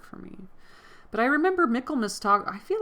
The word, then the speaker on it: Michaelmas: because Michaelmas sounds like Michaelmas, and I called it Michaelmas like the first couple of times that I read it, and then I looked it up, and then I watched the 1995 Pride and Prejudice version, and then I realized it was called Michaelmas.